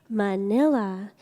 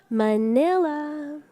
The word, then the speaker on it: Manila: to pronounce Filipino names if you see the letter A it always sounds like ah just like you say Manila everyone say it 3 2 1 Manila there you go so